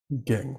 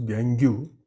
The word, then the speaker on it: gangue: Gang which is called gang for the spelling he can pronounce gangu but it is pronounced as gang gang has other name